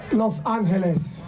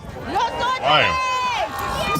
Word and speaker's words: Los Angeles: org he's an lgbtqia pastor and a pastor of vision Church in West Hollywood Los Angeles or let me say it like this Los Angeles Los Angeles please give it up